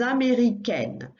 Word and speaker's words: américaine: Je suis américaine. Watch out for that one because the ending is slightly different. You still add an E, but that makes it sound slightly different, a bit on the same line as italien, italienne, américain, américaine.